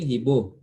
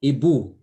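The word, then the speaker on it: hibou: OU is O, and you know you are saying Hibo. So I don't know where you are getting O. We say Ibu, U.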